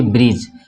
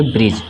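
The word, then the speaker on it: bridge: सकते हैं जैसे की ब्रिज ब्रिज में आपका जी के पहले दी है ठीक है ना तो दी क्या होगा साइलेंट हो गया इसको पढ़ेंगे ब्रिज ठीक है उसी तरह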